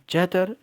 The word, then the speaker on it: चैत्र: सी चैतर डी हड़न तो यहां पर जो लिखा हुआ है स्पेलिंग जो है यह ऐसे ही लिखी है लेकिन इसको ऐसे ही पढ़ा जाता है इसको विशाख पढ़ा जाता है ठीक है इसको फगन पढ़ा जाता है इसको चैत्र पढ़ा जाता है और इसको